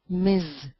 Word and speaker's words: Ms: m s full stop pronounced as Miz now let's continue there's